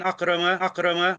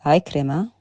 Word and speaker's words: Ikrima: And he mentions here, what do you call it, about a hadith from an Akrama. It's Ikrima.